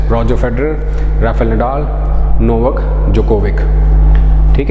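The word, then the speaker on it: Djokovic: Nadal नोवेक that is जोकोविक इसमें D silent होता है जोकोविक है ये नोवाक जोकोविक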